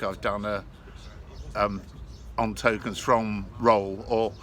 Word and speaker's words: Rothwell: of the work i've done on tokens from roll or rothwell as it's spelt rolls it's pronounced locally and um i've